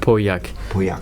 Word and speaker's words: Pauillac: One more, can you teach us how to pronounce it? Pauillac.